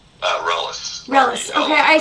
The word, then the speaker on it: Reles: So when you go, by the way, how do you pronounce your last name? Reles.